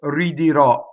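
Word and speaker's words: ridirò: the next word, is ridirɔ. Notice all of those R's are surrounded by vowels. The first R and the second R, surrounded by vowels. Ridirɔ. See, not ridirɔ, not rolled.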